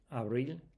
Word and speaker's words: abril: See you got consonant it ends in a consonant so hence the the stress is on that on the last syllable there.